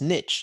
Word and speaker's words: niche: a british guy said it's not niche it's niche and said wait a minute you're british i thought they said niche no no no no it's because it doesn't rhyme with riches you can't say there's riches